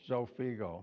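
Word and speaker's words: Xofigo: yeah Sophie go first can you pronounce that it's Sophie go how many ARMs Sophie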